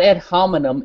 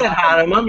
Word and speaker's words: ad hominem: It's not ad hominem. It is ad hominem. You're saying that I'm a washed-up lawyer. No, you're actually mispronouncing it, which is... You have no idea of my career or what I want to do. I have a pretty good idea. You're basically a nobody or loser. Okay? So, basically, you don't know what you're talking about. You don't even pronounce ad hominem properly.